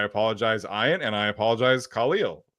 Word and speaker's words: Khalil: I should never have doubted the GOAT, Iron Eagle, but he said Khalil Mack his entire career, and it has always bugged me. But apparently that is how you say it. He asked Khalil Mack, and Khalil Mack